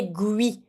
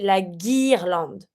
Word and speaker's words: guirlande: And careful here, do not say gui. Do not pronounce the U. Okay, the U is mute. It's just for that the G can make the right sound. But just say la guirlande.